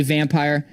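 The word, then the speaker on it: Vampyr: incredible and then finally vampire Vampir depending on how you want to pronounce it another one that probably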